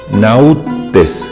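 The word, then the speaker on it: ναύτης: vamos a otro caso la ipsilon suena como la u española en los demás diptongos por ejemplo notes que quiere decir navegante de ahí náutica y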